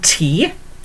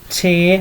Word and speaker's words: te: Okay, now then, if we're having tea, okay, I've got some tea here.